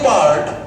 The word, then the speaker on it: bird: দেখে নিই আমার the early বার্ড, the early বার্ড উচ্চারণ করে দেখি। বার্ড, আয়ের উচ্চারণ নেই, বার্ড, আয়ের উচ্চারণ নেই, বার্ড।